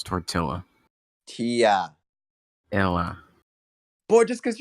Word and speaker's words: tortilla: In Spanish, 2 L's is a Y, and English, 2 L's is an L. If I was speaking Spanish, it would be tortilla. I'm speaking English, therefore it's tortilla.